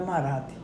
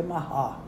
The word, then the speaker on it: Marat: eu disse olha primeiro o nome não é marate é em francês o erre gutural se pronuncia mará aí saí descrevendo quem